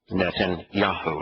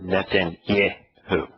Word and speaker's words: Netanyahu: the part that the name that he is mispronouncing as yeah is actually in his name netan yaho it's not netan yo the reality is that um yaha's name is